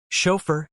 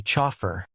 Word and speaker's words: chauffeur: Chauffeur is a tricky one/fr slash. It's borrowed from French. The H sounds like sh and the ending is fur. Many learners say chaur, which isn't right.